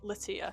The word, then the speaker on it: Lattia: So, if you've been saying it wrong this entire time, it's Latoya.